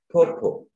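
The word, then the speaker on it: pawpaw: That word is read as popo. This is a fruit. I was once in Karitum and they could call it papaya. So, in a case that is how you pronounce it in your local language, in English is popo.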